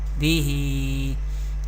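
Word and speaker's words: بِهِ: Next word is ba zer bi, ha khada zer hi, bihi. There zer harkat and there is khadi zer before and below ha and or vertical harkat, and we know we pronounce vertical harkat by stretching up to one alif or two harkat. Recite ba zer bi, ha zer hi, bihi.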